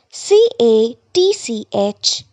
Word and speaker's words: catch: start a part catch c a t c h catch letter T is silent in the word catch B part k n